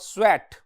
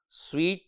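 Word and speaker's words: sweat: wipe the streams of स्वेट स्वेट के spelling जरा गौर से देखिए स्वीट नहीं स्वेट I wipe the streams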